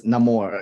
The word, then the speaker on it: Namor: pretty cool I like because pronunciation of Namor the name is Namor oh okay that makes